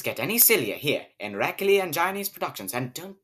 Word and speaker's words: Rraklli: It's pronounced Rraklli and Johnny's productions.